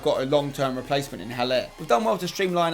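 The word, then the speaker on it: Haller: was double decent likewise heller that is how you say it by the way sebastian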